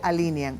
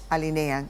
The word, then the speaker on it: alinean: y está correctamente dicho no se dice alinean se dice alinean de acuerdo a la Real Academia Española de la lengua con la postverdad bueno